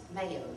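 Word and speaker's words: Mayieux: i e u x still pronounced mayo and that's interesting enough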